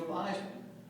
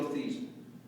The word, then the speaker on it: Theismann: Jeremy's kind enough to introduce me as Joe Theismann. But the truth of the matter is, I'm not Joe Theismann. I'm actually Joe Theismann. That was the correct pronunciation of my last name.